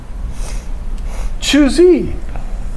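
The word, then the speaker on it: Zhu: Um, Choo, you'd think that would be easy, but it's spelled Z something something. Choo.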